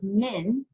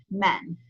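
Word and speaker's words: مِن: Because the word meme and noon can be pronounced either min, or it can also be pronounced with feta, men.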